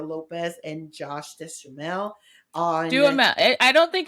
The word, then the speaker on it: Duhamel: Duhamel. I don't think it's not Deschamel. I just want to say I don't. I feel like Josh. you say it like it rhymes with bechamel, which is.